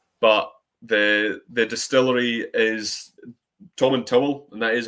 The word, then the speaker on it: Tomintoul: There's been a bit of confusion before, but it does say on the back of the tin that it's pronounced Tom and Towel.